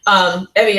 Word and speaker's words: Evia: in this large island, which is called Evia, or Evoa, it's over here, sorry. Evia is the modern Greek pronunciation.